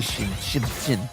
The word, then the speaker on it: Xin: Have you seen that meme where it's Jin with the Xin Zhao spear and everyone says Xin Zhao? Anyway, there you go. It's definitely Shin.